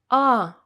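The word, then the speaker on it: А: same as english letters the first one is a letter ah ah it's quite easy to remember especially because it looks like an english a and it sounds almost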